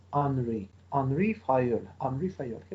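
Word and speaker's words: Henri: this problem was unrefiled please pay attention that it is written with the age in the beginning but he was french that's why we have to pronounce it not as henry but as henry henry fire angry fired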